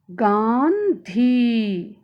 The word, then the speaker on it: गांधी: ध्यान दीजिए बच्चों, यहाँ ग में आ की मात्रा और अनुस्वर का प्रयोग किया गया है, तब इसका उच्चारण इस प्रकार होगा, गांधी। ठीक है बच्चों, अनुस्वर का उच्चारण करते समय ध्वनि साउंड नाक से निकलती है।